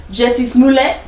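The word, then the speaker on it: Jussie Smollett: heard if you haven't jessie's moulet you gotta say his name like that thanks to dave chappelle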